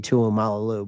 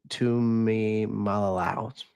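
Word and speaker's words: Tuimoloau: I always say JT Tuimalalu, but JT Tuimalalau.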